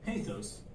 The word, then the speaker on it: pathos: You may hear them pronounced in various ways. For this tutorial series, we'll use the following pronunciations: ethos, pathos, logos.